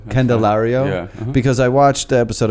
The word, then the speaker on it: Candelario: friend here I don't know how to pronounce your last name uh you can say candelario candelario because I watched the episode of chop with